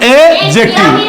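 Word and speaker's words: adjective: ध्यान ये रखना है कि एडजेक्टिव में डी साइलेंट होता है। क्या होता है? मतलब इसको बोलना नहीं है। तो जब इसको बोलना है नहीं तो यहां से शुरू करेंगे, यहां तक जाएंगे, तो क्या हो गया? एडजेक्टिव।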